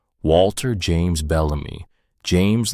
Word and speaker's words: James: He pronounced the middle name like it was Spanish. He said Jaimez instead of James, and Marin felt the wrong syllable land in her chest like a small, stupid hammer.